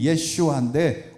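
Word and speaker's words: ישוע: 예수를 본래 발음이 예슈아인데 우리나라 번역할 때 예수로 번역한 것입니다.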